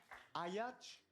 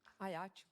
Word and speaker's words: Ajaccio: Alors, la prononciation d'Ajaccio. Ajaccio. Ayach. Ajaccio. Ayachou. Comme ça s'écrit, Ajaccio. pareil.